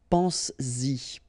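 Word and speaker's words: penses-y: But then if you put this Y, so this pronoun after, then you will have to put back this S just to produce it orally, because you will pronounce it pense-y, pense-y, okay?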